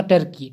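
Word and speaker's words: Turkey: तो ये टर्की को हम लोग दोस्तों तुर्की भी बोलते हैं, तो इसको हम लोग कोई इसको तुर्की भी पढ़ता है या टर्की पढ़ता है। तो इसका शुद्ध उच्चारण दोस्तों होगा आपका इंग्लिश में होगा टर्की, ठीक।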